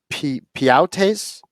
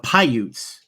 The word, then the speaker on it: Paiute: And is this pronounced correctly? The Piautes? Oh, that it's the Paiutes.